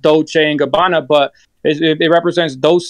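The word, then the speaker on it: Dolce & Gabbana: by Dolce Gabbana that's Illuminati Dolce Gabbana it's pronounced Dolce Gabbana but it represents those say New Mexico for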